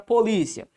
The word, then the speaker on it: polícia: Percebe que esta minha palavra, primeiro, ela é uma paroxítona. Polícia. Onde é que está a sílaba tônica? Tá aqui, ó. A sílaba tônica tá bem aqui.